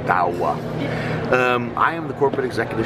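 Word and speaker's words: Douwe: My name is Dawah. You pronounce it as Dawah, D-O-W-A-H. You spell it as D-O-U-W-E, but to make it easier, pronunciation, Dawah.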